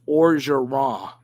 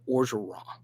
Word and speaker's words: Orgeron: So don't pronounce the N on Coach O. So Orgeron. So it's Orgeron. And Orgeron.